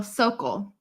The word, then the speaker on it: Sokol: Rhymes with vocal. So Sokol. Got it. Sokol is going to come on at the top of the hour.